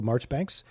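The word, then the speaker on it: Marjoribanks: So the guy who they meet with is named Campbell Marchbanks. It's It's spelled Marjgery Banks. M A R J O R I B- A N Ks.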